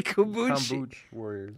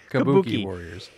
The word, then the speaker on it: Kabuki Warriors: I did not say you said something I did not say kabo kuch Warriors I did not say kuch you said kabo Warriors anyway now you got have me say it wrong don't get me down